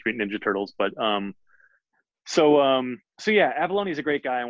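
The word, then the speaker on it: Avallone: It is you and I'm going to try to pronounce David's last name. David Avalone. Avalone.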